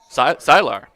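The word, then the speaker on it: Cihlar: That's spelled C I H L A R CR Silar.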